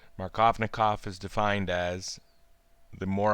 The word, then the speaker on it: Markovnikov: the spelling of it if I was to use a more accurate Russian pronunciation I believe it would be closer through my colony call but let's not get too picky markovna cough is defined as the